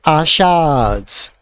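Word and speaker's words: Asha's: पे एस लगाया गया, तो इसको हम पढ़ेंगे आशाज। ठीक है, लॉन्ग प्रोनाउंस करेंगे इसे, आशा नहीं पढ़ेंगे, आशाज पढ़ेंगे।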